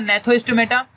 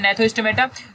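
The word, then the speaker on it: Gnathostomata: चलो तो ये जो हमारा नेक्स्ट वाला रहेगा नेथोस्टोमेटा, ठीक है, जो जी जिसमें साइलेंट होता है नेथोस्टोमेटा, तो इसके बारे में हम लोग अच्छे से समझेंगे।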